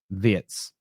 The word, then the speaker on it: Wirtz: That first half performance from Verts or Viet whichever way I do think it's Viet. They were saying on the commentary that that's how they say it in Germany. Vietz, the way he can beat a man is impeccable.